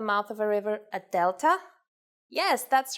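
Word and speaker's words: δέλτα: I want to make one more point regarding the pronunciation of delta and gamma. It is very easy to forget the way they are pronounced in Greek and go for their English versions, delta and gamma. Please don't forget that in Greek, the sounds are much softer. Oh, and another thing.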